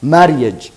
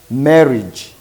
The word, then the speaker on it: marriage: married now then here we don't pronounce it as a married marage no no no we say marriage marriage this a is silent e a marriage then